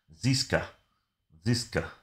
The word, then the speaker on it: Ziska: But yeah, Seeker's going to make his debut. Or is it pronounced Seeker? There's a Z there. Ziska, there you go, Ziska.